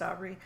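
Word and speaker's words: Obray: that's right Aubrey yeah is spelled very differently from my name but it is pronounced Aubrey and um this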